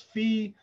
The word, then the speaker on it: phi: and we just write it like that there's another number that's very very common i pronounce it as phi some people pronounce it as fee but that's a very